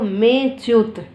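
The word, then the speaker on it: मेऽच्युत: उसका उच्चारण करेंगे और उस एस के सिंबल का वहाँ उच्चारण नहीं करेंगे।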